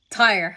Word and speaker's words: Tyre: Let me see if this is the right pronunciation. Ty. Tire.